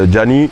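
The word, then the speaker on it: Djanii: Donc, Gianni, ça s'écrit D-J-A-N-I-I.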